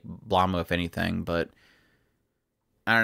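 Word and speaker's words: Blame!: I call it Blamu. Sorry. That's how they pronounce it.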